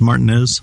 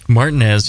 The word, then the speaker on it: Martinez: that's what we're doing it's not pronounced Martinez Martinez yes wonderful downtown Martinez they